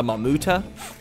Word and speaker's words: Mamuta: This guy right here is actually called a Mamuta. I said the name wrong last episode.